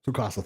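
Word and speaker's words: Tsukasa: Like this man died like Okay, that being that being said though, the way um uh Sukasa Sukasa, thank you. I was getting the pronunciation wrong in my head where he says like there's no way he and Kohaku did not die, bro.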